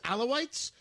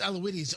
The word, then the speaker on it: Alawites: Christian minorities uh I I believe the pronunciation is alawites I don't know if it's aloides I believe it is alawites you're right Tony that it's alawites correct I got that right Carl